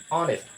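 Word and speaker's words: honest: তোমরা দা ব্যবহার করবে এখানে অনেস্ট অনেস্ট অনেস্ট অনেস্ট অনেস্ট কি অনেস্ট এর মত উচ্চারণ হছে ও এর মত উচ্চারণ হয়েছে ও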